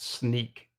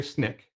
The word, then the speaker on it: SNEAK: an acronym and yes it is pronounced sneak don't believe any of my uk colleagues who say snick coming straight from our founder it is sneak oh brad knows it